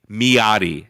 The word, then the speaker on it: Miady: Actually, so I've reviewed and destroyed a lot of batteries on my channel lately, but specifically Miati, MIADY is how you spell that. Miati, yadi, like that.